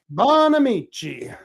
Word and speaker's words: Bonamici: Is that how it's pronounced? Bonamici. Bonamici.